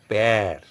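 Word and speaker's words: père: using it on E say the pronunciation is pair it is when you use this accent grabon it becomes a more flatten pronunciation your lips are expanding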